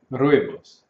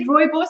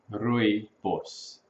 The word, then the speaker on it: Rooibos: Rooibos. The bit of a rolling R.